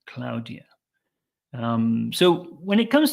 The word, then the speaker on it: Claudia: Claudia Claudia um but in Spanish this would be pronounced Claudia cloudia um so when it